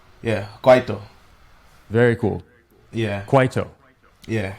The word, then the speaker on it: Kwaito: type stuff like Muscanti, is it called, or Kwaito? Yeah, Kwaito. Very cool. Yeah. Kwaito. Yeah. Awesome. We've been trying to get some of these pronunciations of these new words.